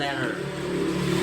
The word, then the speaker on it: letter: Dalam bahasa Inggris, bunyi T dalam letter sering diucapkan sebagai flap atau R di Amerika menjadi letter.